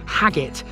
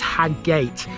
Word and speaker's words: Haggate: And the only thing really that people have been saying is how I pronounced Haggit in the parish of Briarcliff. Apparently it's Haggate, but that's really the only thing people have said about the Burnley series, really.